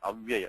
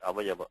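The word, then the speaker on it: अव्यय: Sankhya and avyaya, not avayava, avyaya.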